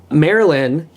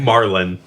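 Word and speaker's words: Marlyn: Marlin. Marlin? Like the Marlin. fish. Oh, is it? Is that beneficial? Yes. It's spelled with a Y. It's spelled M-A-R-L-Y-N. M-A-R-L-Y-N. Right. Oh, yeah, okay. It's not M-A-R-Y-L-Y-N. Unless you like really pronounce the L.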